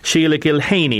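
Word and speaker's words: Sheila Gilheany: Sheila Gilhaney, is that the correct pronunciation, Sheila? It is indeed, yes.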